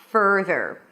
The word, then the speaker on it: further: Further has no vowel between the F and the R. Further.